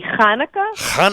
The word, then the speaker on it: Hanukkah: hooking up like uh it's supposed to be Hanukkah everybody yeah like with ch like you got a loogie in the back of your throat you gotta throw it